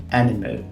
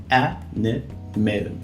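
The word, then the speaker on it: anemone: Então, animal, animal, animal. E aqui, além disso, a gente tem aqui o NE no final, ele vai ser meio que mudo também.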